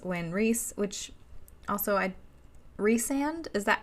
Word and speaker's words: Rhys: they break it up, would be Rhys, because rice doesn't make sense. Rhysand would, I guess, be fine, but rice is a little weird. Why wouldn't you call him Rye if his name was Rhysand? But Rhys sounds fine. So I call him Rhys.